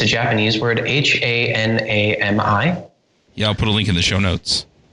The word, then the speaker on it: Hanami: One that is most on my mind these days is Hanami, which used to be called Lotus, by Luca Guidi.